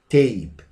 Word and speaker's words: tape: So if I write the word tape, it said this R changes to A, tape, a sound because of this silence E. So this E is not pronounced.